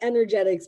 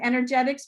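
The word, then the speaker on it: 3nergetics: pronouncing that right emily no like energetics but with the three instead of an e so you pronounce it energetics but it's the reverse three yeah all right there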